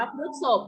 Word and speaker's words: พฤษภ: หรือ เปล่า นะ คะ แต่ ตาม หลัก ภาษา จะ อ่าน ว่า พฤษภ เพราะ ว่า คำ ว่า พฤษภ นี้ มัน แปล ว่า วัว นะ คะ นึก ศพ